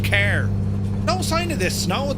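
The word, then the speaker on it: Cahir: We're near car or if you look on the map it looks like cah here but it's pronounced car.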